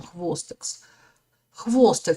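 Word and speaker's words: Chvostek: Again, Schlesinger's symptom, you should remember, Trousseau's sign, and khvostek, in Russian pronunciation, khvostek sign, that you could study these symptoms and signs at the Department of Neurology.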